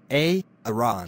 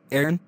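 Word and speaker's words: Aaron: Iran you better be sick dead or mute ay-ay-ron here oh man why didn't you answer me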